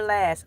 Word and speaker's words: Elay: Hi, I'm LA, pronounced like LA, like the city, blah, blah, blah.